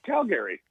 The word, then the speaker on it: Calgary: Yeah, it's Calgary. That's how the Canadians pronounce it.